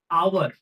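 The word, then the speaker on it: hour: দেখো প্রথমটা আমি কি বললাম, আওয়ার, এইচ ও ইউ আর, আওয়ার, তাই তো? আওয়ারে আমরা উচ্চারণটা কি করছি, আ আ, আওয়ার আ।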